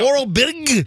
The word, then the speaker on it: Orobitg: Eddie Cha Orobitg. It's Oro, and then Bitg. Okay. Bittig? Yeah. Orobitg.